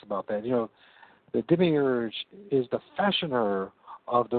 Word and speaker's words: demiurge: How did you pronounce it? Demiurge.